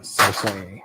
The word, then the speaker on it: Cersei: That's how George pronounces it. Cersei.